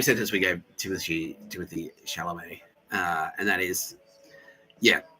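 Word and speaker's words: Chalamet: I've been saying Shamallay and it's actually Shalamé. Yeah. Okay. Yeah. Um it's the same sentence we gave Timothy Timothy Shalamé.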